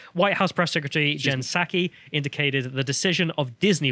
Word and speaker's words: Psaki: So this one here, Paxi, how do you say it? Psaki, sorry.